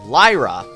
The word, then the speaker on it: Lyra: I've been saying it wrong the whole time. It's Lyra.